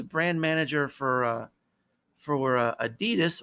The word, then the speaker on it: adidas: manager for uh for adidas or or adidas as is pronounced in most parts of the world and he said i